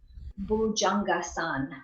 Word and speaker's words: bhujangasana: bhujangasana so it's shortened so when it's bhujangasana then that would be probably hindi as opposed to Sanskrit Sanskrit would put that a on the end it will pronounce the